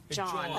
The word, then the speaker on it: jawn: Is a John. I mean, it means anything. It's a noun. So literally everything is a John. Wow. A John? A John, yeah. Spell it. J-W-N, John.